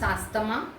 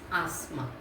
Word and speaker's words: asthma: Please don't pronounce asthma, it is asthma.